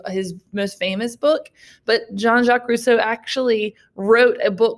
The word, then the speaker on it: Jean-Jacques Rousseau: This is Jean-Jacques Rousseau, not Jean-Jacques Rousseau. A lot of people mispronounce his name. It is Jean. It's French.